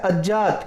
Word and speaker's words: अज्ञात: वैसे तो आप अज्ञात बोलोगे इसको, लेकिन अज्ञात क्या होता है? अशुद्ध उच्चारण होता है, और शुद्ध उच्चारण क्या होता है? अज्ञात। क्योंकि ये गे नहीं है, ये जय है, इसलिए क्या है? ये अज्ञात है।